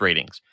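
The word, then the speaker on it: RTINGS: our teens are things okay it's spelled it's pronounced ratings because there's always there's always like a duty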